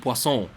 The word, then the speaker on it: Poisson: Poison Labo, it's not pronounced Poison Labo, but Poisson, from what I heard, was one of the animators on the anniversary animations.